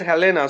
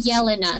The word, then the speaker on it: Jelena: Okay, because I thought you said Helena, so I was just confused that am I pronouncing your name correct? It's actually Jelena, so J is pronounced like a Y.